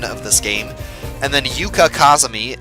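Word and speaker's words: Yuuka: And then Yuka Kazami, I believe her name should actually have 2 U's in it. It's a long U and not a short U.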